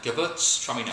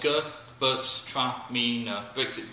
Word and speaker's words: Gewürztraminer: Gewürztraminer, 5 syllables. Gewürztraminer. Break it down, it's a little bit easier to pronounce that way. Gewürztraminer.